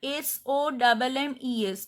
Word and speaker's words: sommes: Nous sommes, we are, SOMMES, nous sommes, this S is silent.